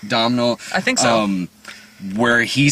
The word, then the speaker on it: Domhnall: There's this really disturbing scene in the movie too, where Caleb, how do you pronounce his name? Domhnall? Domhnall.